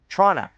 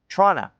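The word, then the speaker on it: Toronto: The big city in Ontario is pronounced Tronna. Nobody says the second T except Americans.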